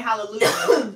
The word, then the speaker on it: Hallelujah: you wanted them say hallelujah yeah Hallelujah you supposed to pronounce your J's in English but they don't in Hallelujah and that's not a